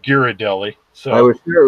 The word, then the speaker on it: Ghirardelli: Ghirardelli. He is Ghirardelli's. Ghirardelli. You fucked me on that one. I was waiting for him to say it. Well, he said Ghirardelli, so I was sure it was going to